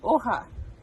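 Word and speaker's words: hoja: leaf which is oha so this is a very fun spanish word because we have the h and the j so the h if you remember you don't really pronounce and then the j is like an h o ha and then stem so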